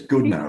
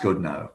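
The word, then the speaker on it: Goodenough: He says good no, like no good backwards, That's says. Right. So it's spelt like good enough, but good it's enough, not, yeah. But it's pronounced good no.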